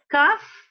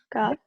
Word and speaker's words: cough: Se pronuncia con una F, como F.